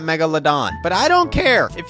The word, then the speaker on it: Megalodon: I also think people get very angry when I pronounce it Megaldden and not Megalodon, but I don't care.